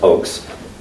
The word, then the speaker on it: Ochse: The Crossing of Aldo Ray, Weston Ochse, pronounced Ochse, holds a Master of Fine Arts from National University in San Diego.